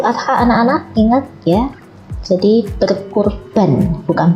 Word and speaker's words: berkurban: Kalau kurban ini biasa diucapkan ketika Idul Adha, anak-anak ingat ya. Jadi berkurban, bukan berkorban kalau itu ya, kurban.